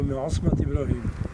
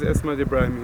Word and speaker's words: Esmat Ibrahim: This is Esmat, am I pronouncing that right? No, Esmat Ibrahim. His name is Esmat Ibrahim.